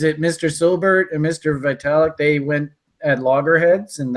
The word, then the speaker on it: Vitalik: I always get his name wrong. Vitalik, is that his name?